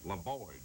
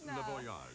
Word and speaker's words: Le Voyage: La Voyage. No, it's Le Voyage.